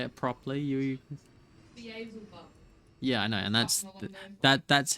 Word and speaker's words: Beelzebub: Balzibos is a demon. I know. I just know that's not how you say it. If you say it properly, you... Beelzebub.